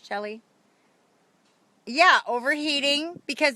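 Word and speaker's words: Chelle: yep is that is that Shelly did I pronounce that right that right c h e l l e Shelly yeah overheating because it's the you know the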